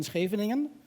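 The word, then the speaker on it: Scheveningen: neighbors who said either you end up in schraveningen I know how to pronounce it I'm Dutch poor or you leave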